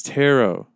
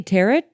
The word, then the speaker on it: tarot: some you got a Tarot deck it's tarot you don't pronounce the T Christ's sake did you say teret is that what he